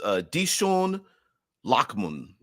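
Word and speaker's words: Dichen Lachman: wipe took effect, but her name is pronounced Dishon Lockman.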